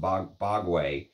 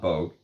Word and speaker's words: Bogue: And then coming back to his House of Bogue, which is how you're supposed to pronounce it. It's not Bogue.